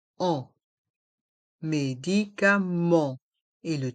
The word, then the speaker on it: médicaments: pharmacien la pharmacienne le pharmacien la pharmacienne les médicaments les vitamines les médicaments les vitamin dans le mot médicament le E et le N se prononce en médicament et le T et le S sont muet